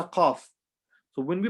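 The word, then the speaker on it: ق: The letter qaf. So when we pronounce this letter, we're not going to say ka, we're going to say qa.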